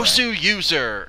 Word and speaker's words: Goswser: Goswser, because he is a user of StarCraft 2, and it's Gosu. He's so Gosu.